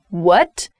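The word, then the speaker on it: wut: pronunciation of this is what what so a very strong u sound this comes from the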